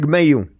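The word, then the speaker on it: Mailloux: my U sand it's it's pronounced my you right I'm Alberta boy so I uh the French pronunciation you feel free to correct me it's all good so Logan Mayu yeah he's a big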